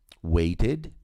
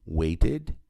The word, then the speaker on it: waited: precisando e aqui só pronuncio o e se antes dele tiver t ou d t de tat ou d de dado aqui no caso de waited waited needed aqui o sonhado